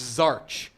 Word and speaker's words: Zarch: It's pronounced Zarch. That's his team, Zarch. That's how you pronounce it.